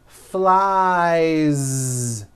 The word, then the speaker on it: flies: So you've got I fly, he flies. Keep that ending voiced. Flies.